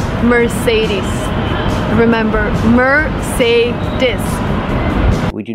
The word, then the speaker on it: Mercedes: we say Mercedes Mercedes the final sound is not s like Star it's Z like zebra Mercedes Mercedes put the stress on the second syllable Mercedes remember it's not Mercedes it's Mercedes use a long e sound at the end e ease Mercedes example